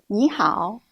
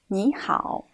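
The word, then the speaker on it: 你好: a look at these two characters and their pronunciations Nihao Nihao here it must be mentioned that in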